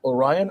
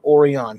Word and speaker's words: Orion: your rating or the pirates of orion or oreon however you would like to say yes exactly and